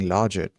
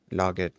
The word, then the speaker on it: logit: How is the word logit, logit pronounced? Um, it's pronounced slightly different. It's pronounced in slightly different ways depending on the regional accent, but here are the common pronunciations.